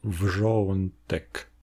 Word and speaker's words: wrzątek: avant la transition consonantique, comme dans le mot "wrzątek", qui, si j'exagère, se prononce wrzo -ɔ̃ n tek.